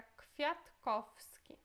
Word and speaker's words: Kwiatkowski: Esse W e este aqui também se pronuncia com som de F, então fica Kwiatkowski. Ok, os próximos.